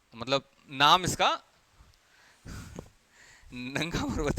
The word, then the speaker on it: नंगा पर्वत: लेकिन एक्सेप्ट कर लेना, नंगा पर्वत। इसको नागा पर्वत भी बोल सकते हो आप, क्योंकि spelling goes like this, नांगा। तो नांगा बोलोगे तो यहाँ पे नागा की पहाड़ियां हैं, तो वो कंफ्यूज हो जाते हैं, तो हम इसको नंगा ही रहने देते हैं, मतलब नाम